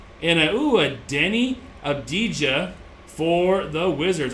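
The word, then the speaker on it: Avdija: a ooh a Denny abdij for the Wizards I know there's another way to say his last name it's like abdia I think it's obia the J is silent yeah I think it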